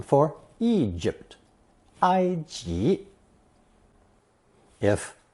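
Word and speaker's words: 埃及: it to transliterate the country name for Egypt IG if IG doesn't sound very much like the English pronunciation Egypt that's because the Chinese version is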